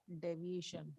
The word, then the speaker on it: deviation: Deviation. Okay. इसको हम pronounce करेंगे deviation. ई को थोड़ा स्ट्रेस करेंगे.